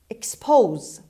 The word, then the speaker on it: expose: subscribe word number five expose expose expose as you can see the stress is on say sound we don't have any say here but expose the stresses on sit means lay open uncover